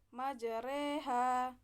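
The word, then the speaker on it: مجراها: Iha Bismillahirohmanirohim awal mursaha majroha maka cara membacanya dirubah menjadi majreha terdapat pada Quran surat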